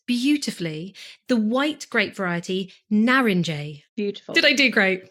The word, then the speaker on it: Narince: the end which is so crazy that you pronounce that J narinj I think it's a beautiful Nar and J